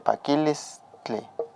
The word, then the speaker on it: pakilistli: Aquí se está juntando, pero recuerden amigos que hay que pronunciar bien la TL, pakilistli. La TL o la TL y la LT.